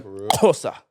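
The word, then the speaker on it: Xhosa: I swear to God, the Kosa. That's how you say it. You spell it with an X, and the X is the click.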